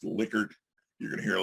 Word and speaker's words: Likert: that's the guy's name it was german it's pronounced liquor you're going to hear a lot of likerts that's the mispronunciation but liquor scale right one